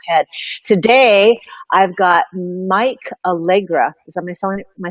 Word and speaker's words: Allegra: Today, I've got Mike Allegra.